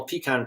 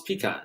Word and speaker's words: pecan: middle of summer National pecan pie day how do you pronounce pecan you say pecan you don't say pecan I say pecan because I'm from the